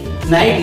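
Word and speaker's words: knight: के एन आई जी एस टी नाइट।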